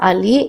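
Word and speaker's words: allí: Uh the opposite of here will be there uh which in Spanish will be pronounced as ali a l i with an accent on the i.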